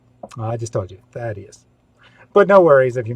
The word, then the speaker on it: Thaddeus: First, this highly important question: how is Thaddeus pronounced? I just told you, Thaddeus.